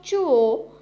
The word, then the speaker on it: zhuo: The next Pinyin is ZHUO, has a pronunciation of chuo, chuo.